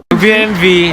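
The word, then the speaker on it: BMW: BMV German kasi ang W niyo sa German pronounce as V.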